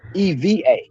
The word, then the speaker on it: Ewa: v's put together um anything with a W here is pronounced with a V so it's a town that's spelled Ewa but they call it ever Eva that's how they pronounce